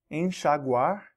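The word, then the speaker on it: enxaguar: and all the patterns we will always pronounce the X after en n as sh as well e NX is an as an ancient a few words maybe some new ones actually an shaguar which means to rinse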